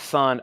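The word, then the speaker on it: Sunn O))): of the band is son o but you don't say the O okay so it's just son Dave's dream says it's pronounced sonno so we have some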